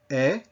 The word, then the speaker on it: est: Now, you can see that these are not all spelled the same way, but they all have that same sound, eh.